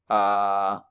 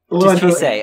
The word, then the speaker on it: Chise: And it establishes Chiho? Chise. Chisei. Okay, I was close. I got one syllable.